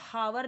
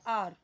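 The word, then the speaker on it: hour: बट हम इसको हावर नहीं पढ़ते, इसका करेक्ट प्रोनाउंसिएशन होता है आर, आर। यहाँ पे एच साइलेंट है, तो ये क्या बचा आपका, ओ बचा, आर, आर यानी हमारा, ठीक है।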